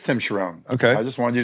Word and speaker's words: Charron: Am I saying it wrong? Because that's what I've been... It is Tim Charron.